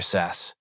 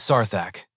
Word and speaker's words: Sarthak: "Just my gear, sass," Jake replied, deliberately mangling the pronunciation. "It is Sarthak, as you well know."